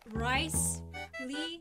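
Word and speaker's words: Wriothesley: If Risley does have a plan. Risley what? If Risley does. Risley? Bruce Lee, but Rice Lee, every Asian's favorite food ever.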